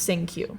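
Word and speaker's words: Cinque: nickname is SQ which we will get into sink Q sink QQ it's spelled c i n n q e c i n q e but it's pronounced sing Q okay um also speaks on the tape towards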